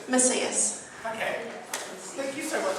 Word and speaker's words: Macias: What is the correct pronunciation? Macias.